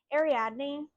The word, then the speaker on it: Ariadne: Next book I had to look up the pronunciation on because I didn't even know how to say it. Ariadne.